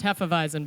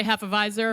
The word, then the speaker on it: Hefeweizen: Pronounced Hefeweizen, by the way. A lot of people say Hefeweizer. No we don't know why. Hefeweiser, no Heffenweizen. There's no R at the end.